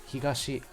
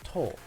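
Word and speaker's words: 東: Higashi is the Japanese way to pronunciation of east, whereas it becomes to.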